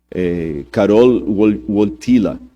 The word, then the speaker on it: Karol Wojtyła: E o Karol Wojtyła, esses dias eu pedi a alguém que fala polonês para me corrigir a pronúncia, Karol Wojtyła, que era o nome